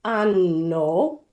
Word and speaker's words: anno: And in Venice, one friend said, Melissa, make sure you prolong the N in anno, because you're not.